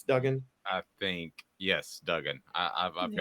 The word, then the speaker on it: Duggan: Bryce Young and Max, is it Duggan is how you pronounce his name, right? Not Dugan, it's Duggan.